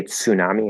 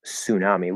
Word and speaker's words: tsunami: we borrowed from Japanese we don't say tsunami in English we might some people might say it that way if they're aware that that's like the original pronunciation but the natural way to say that is tsunami we drop the T and just make it an s so that's not usually